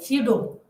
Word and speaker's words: pseudo: Here P is silent and we can say pseudo scientific theories about race and ethnicity.